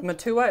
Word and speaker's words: Matua: new New Zealand Sauvignon Blanc Avignon blonde you Matua is that that is correct ah look at me pronouncing things correctly this is nice even without